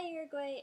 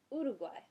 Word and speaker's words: Uruguay: was instructing us on how to pronounce these Spanish countries in a Spanish accent, the way she pronounced it was Uruguay. Uruguay, Uruguay. It sounds so different, but I thought it was really cool learning how to say it in Spanish.